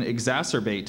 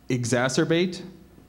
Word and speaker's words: exacerbate: name calling will often exacerbate an already violent argument are there any other pronunciations exacerbate exacerbate exacerbate exacerbate e x a